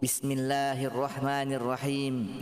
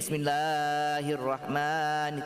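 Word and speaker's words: بسم الله الرحمن الرحيم: Ketika membaca mat itu dia ya seperti itulah satu ayunan. A, I, U, Bismillahirrahmanirrahim. Gitu. Tidak bacanya seperti ini. Bismillahirrahmanirrahim. Tidak seperti itu.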